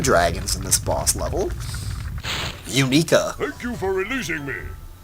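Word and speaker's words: Uniqua: Unica. Thank you for releasing me. I think you spelled that wrong. I think it's U-N-I-Q-U-A. That's how you spell it, Unica, right?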